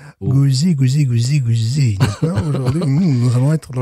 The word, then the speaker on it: Gose: Donc, là, je parlerai de Gose et non pas de Gueuse. Gouzi.